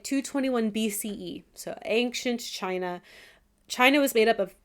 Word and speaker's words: Qin: Is that where we get the word China from? I believe so. That makes sense. Yeah. The Chin except A. It's Q I N, but it's pronounced Chin.